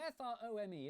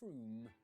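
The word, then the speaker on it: Frome: on your train wrong it's not from f-r-o-m-e it should be blitheringly obvious it's pronounced froome but if you did say from don't worry you're in good company froome is officially the most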